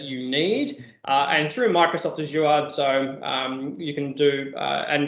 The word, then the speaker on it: Azure: I call it Azure. I do realize that it is Azure, as all of my American friends keep telling me, but because I'm very, very Australian, I pronounce it Azure.